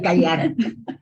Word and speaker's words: Qajar: ¿O cómo se pronunciaría el Pahlaví y el Qajar?